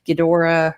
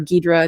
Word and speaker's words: Ghidorah: rhodam they have mothra ghidorah or guidra depending on how you want to say it right and so with